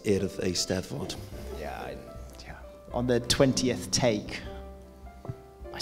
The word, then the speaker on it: Eisteddfod: learn to say earth Eisteddfod it's pronounced ear of a step foot on the 20th take